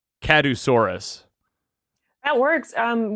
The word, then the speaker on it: Kadusaurus: correctly i was saying kadusaurus that works um we pronounce it catasaurus because like obviously yeah but besides kadusaurus